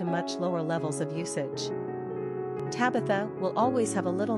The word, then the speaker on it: Tabitha: Tabby is an oft-used nickname for Tabitha. Quick facts on Tabitha. Gender, girl. Origin, English. Number of syllables, 3. Ranking popularity, 759. Pronunciation, TA by TH.